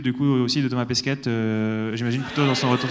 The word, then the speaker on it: Pesquet: Pesquet, pardon, je le prononce mal, ouais, Pesquet.